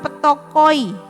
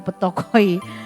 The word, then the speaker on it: ptochoi: Matius 5 ayat 3 ini kata miskin di sini menggunakan kata bukan penikros, bukan penes, tetapi memakai kata petokoi. Nah, apalagi itu petokoi?